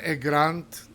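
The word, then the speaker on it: grande: Mason grant. You pronounce that there because there is an e at the end of grant.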